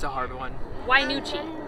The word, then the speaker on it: Wynoochee: from what it was called yeah it's called wainuchi waterfall it's a hard one why nuchi it's spelled just like this why nuchi and what